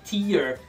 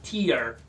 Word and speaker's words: tear: T-E-A-R, tear, se você pronunciar com som de I, você está dizendo lágrima, tear.